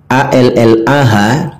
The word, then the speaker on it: Allah: Karena memang begitu penggunaan pembacaannya, cara membacanya. A-L-L-A-H itu Allah itu bacaan yang benarnya Allah, dibaca tafkhim tebal.